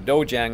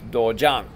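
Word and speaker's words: 도장: Here we have dojang. Okay, most of us will say dojang, or we'll hear that dojang. That's a West Central Texas, I don't know, Alabama twang, and it's not dojang, it's dojang.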